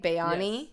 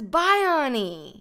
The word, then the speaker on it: Bayani: the first time and I'm pronouncing your name right right Bayon yes you're pronouncing it correct everyone says Bion yeah even graser and